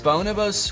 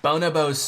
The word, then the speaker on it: Bonobos: life clothing brands like Bonobos. Widelegg jeans. Bonobos sweatpants. Is that how you pronounce it? I looked it up afterwards and it is not Bonobos.